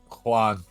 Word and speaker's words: John: Chris, how does he pronounce John? Juan. Juan. Okay. Yeah. So it's clearly pronounced. It's clearly written John.